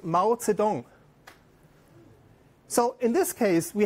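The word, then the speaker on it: 毛泽东: That's the writing, this writing is pronounced Mao Zedong.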